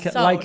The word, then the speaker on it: Seoul: Like Seoul. like you would say Soul.